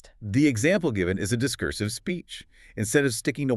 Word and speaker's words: discursive: And the opposite of being focused when you speak, discursive.